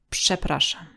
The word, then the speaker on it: przepraszam: So in the word przepraszam, P is voiceless and Ż becomes voiceless. Sh, psh, przepraszam.